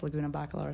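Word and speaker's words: Laguna Bacalar: learn these names well bakalar Lagoon it's like the same thing but I guess Lagoona bakalar is what they call it say it right now bakalar no no no Luna let's say that lagum barlar did you say it pretty good yeah lagona Spanish for Lagoon I could be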